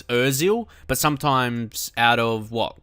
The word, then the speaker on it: Özil: it's so close it's so close to the pronunciation I know it's Özil but sometimes out of what cuz I'm playing